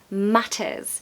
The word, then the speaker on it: matters: Here we have a double T, so we're definitely going to ramp up that T sound. Matters, matters. If I was American, I'd say matters, and it's more of a D sound, d. But no, in British we say the T, matters.